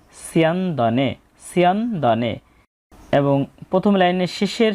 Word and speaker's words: স্যন্দনে: দন্তস্বয়ের সঠিক শুদ্ধ উচ্চারণ হচ্ছে বাংলা স বর্ণের মতো এবং প্রথম বর্ণের সাথে জফলা থাকলে কার চিহ্ন ব্যবহৃত হয় ই অ, তাই এখানে ছয় রস্যি বলবো এবং পরে অয়ের মতো সাউন্ড আসবে সিয়া।